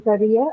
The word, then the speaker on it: career: So Ria in career and E in trainee are the syllables that are stressed.